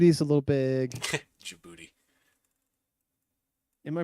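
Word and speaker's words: Djibouti: ] yeah so luxembourg's a little bit big jibuti is a little big jouti am I pronouncing it correctly no you're pronouncing it correctly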